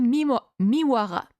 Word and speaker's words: Miwara: Miwara, ok, se dit Miwara.